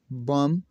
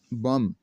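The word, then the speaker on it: bomb: अगर किसी लफ्ज में एम के बाद या टी से पहले बी आता है तो यह बी हमेशा साइलेंट हो जाता है। कैसे बम बम बम बम बम और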